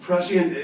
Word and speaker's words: prescient: So, to prescient, אם יש תחושת בטן לגבי משהו. עוד פעם? כן, כן, משהו כזה. By the way, it's pronounced prescient, not prescient. Prescient. So the accent is this.